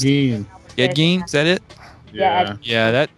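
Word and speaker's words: Ed Gein: Edge G or Gene however his name's pronounced. Ed. Edge Gene.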